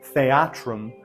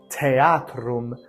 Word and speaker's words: theatrum: A theater, theatrum. That's what it is in ecclesiastical pronunciation. Theatrum, theatrum in classical pronunciation. Again, this TH is just like this PH. It creates a puff of air.